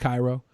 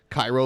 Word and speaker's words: Cairo: Cairo also said, forgot to mention my name is pronounced Cairo. Yeah. Cairo, like the city in Egypt?